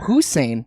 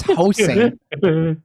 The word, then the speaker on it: Hossein: Yeah, you think I'm fucking up Hussein? No, it's Hossein.